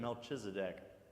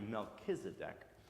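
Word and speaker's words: Melchizedek: a city called Salem and his name is melchisedek if you have ever pronounced it melchisedek that's okay but it's actually melchisedec and this king melchisedec is also apparently a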